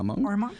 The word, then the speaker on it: Armonk: chance for a new career, you moved to Armonk, New York. Did I pronounce that correctly? Yep, Armonk.